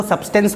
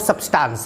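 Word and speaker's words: substance: हो, mass of सब्सटेंस, सब्सटेंस भी कुछ लोग बोलते हैं, एक्चुअली हम लोग बनारसी लोग हैं तो सब्सटेंस बोल देते हैं, लेकिन एक्चुअल जो इसका प्रोनाउंसिएशन है वो सब्सटेंस है।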